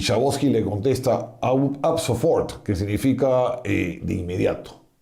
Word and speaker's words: ab sofort: Y Schabowski le contesta ab sofort, que significa de inmediato. No lo he pronunciado pésimo, pero en alemán es ab sofort, de inmediato.